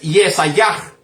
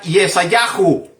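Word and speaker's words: ישעיהו: Una de las pronunciaciones que las personas lo pronuncian es Yesayah, nada más. Yesayah. Y otras personas de habla hebrea lo mencionan Yesayahu.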